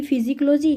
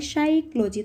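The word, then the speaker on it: psychology: तो साइकोलॉजी में कौन सा वर्ड साइलेंट है, पी। देखो मैंने ऐसे थोड़ा ना बोला है कि फिजिकोलॉजी, तो मैंने क्या बोला है, साइकोलॉजी। तो साइकोलॉजी में पी वर्ड क्या हुआ, साइलेंट हुआ।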